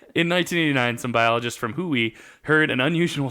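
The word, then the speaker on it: WHOI: the acronym which is genuinely meant to be pronounced wooe I I swear to God look it up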